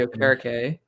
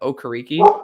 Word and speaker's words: Okereke: Bobby Okereke, but linebacker he literally changed the pronunciation of his name. Because he came into the league what Okereke and then Okereke. Isn't that wild? Yeah, and then he changed it to Okereke.